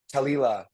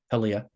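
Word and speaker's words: Taulia: But to me, this is Talila. Or how did I pronounce it correctly? What is it? Talia.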